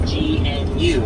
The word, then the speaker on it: gnu: Now, the wildebeest is the largest migratory animal, also referred to as a gnu, which is spelled GNU, named after the sound they tend to make. The grunts will sound like they're saying gnu.